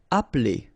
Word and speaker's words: appeler: Appeler. Alright, so the funny thing here is that you don't really insist on this okay? So if you listen carefully, it's just like if it wouldn't be here.